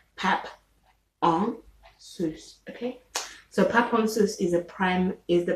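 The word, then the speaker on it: pap en sous: um then there is pop on okay which is spelt p a p e n s o u s okay there's spaces in between each word pep on sous okay so paponsus is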